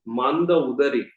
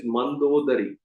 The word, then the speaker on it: Mandodari: in the crystal pillar, it is not Manda Udari. Her name is Mandodari. We have to pronounce it correctly. Manda Udari. That is her correct way of pronunciation.